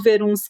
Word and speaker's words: Verunschk: ter você aqui e o jeito que eu pronuncio o verun Tá certo Oi boa noite alegria nem é